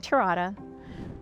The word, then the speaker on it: Terada: I'm Terada, rhymes with pina colada, and I'm one of them.